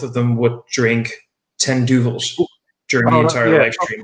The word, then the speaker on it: Duvel: It's Duvel. I've always called it Duvel. It is Duvel. I pronounce it both ways.